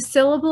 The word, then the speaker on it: syllable: The word syllable has 3 syllables.